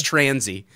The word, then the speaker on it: Tansey: spelled my name wrong so if you see an r in my name there's no r there just say it without no it's transy what do we got